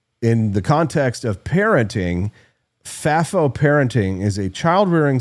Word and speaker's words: FAFO: Austin, uh, Fafo, that's how we're pronouncing it here.